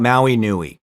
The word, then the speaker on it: Maui Nui: If you're curious, check out Maui Nui. It's spelled M-A-U-I, like the island, and N-U-I, which means big.